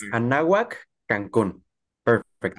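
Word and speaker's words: Anáhuac: course, of studying in Mexico, specifically with Universidad Anahuac, Cancun. Did I pronounce it correctly, Christian? Hopefully, I did. You did, Lonel. That's right. It's Anahuac, Cancun. All Perfect. right, Anahuac, Cancun.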